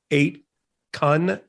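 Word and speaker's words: 8kun: on of course called eight con eight k u n and this all we did i pronounced that chan i don't know but no this one is different this is k-u-n i think it's a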